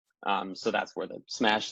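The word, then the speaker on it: CMash: use this containment minhash concept which is called smash that's how you pronounce that so smash uses k-mer sketches to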